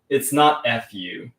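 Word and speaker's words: ふ: You don't go for your lips in Japanese. Fu is something you don't pronounce. It's fu. Your teeth don't touch your lips.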